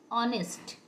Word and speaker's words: honest: ऑनेस्ट HONEST, यहाँ पर H silent होता है और इसका प्रोनाउंसिएशन होता है ऑनेस्ट।